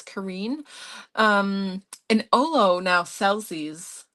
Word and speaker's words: Karin: I used to say Karen, but I was corrected. I think it's Kareen.